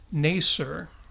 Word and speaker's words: Nasir: By the way, it is indeed pronounced Nasir.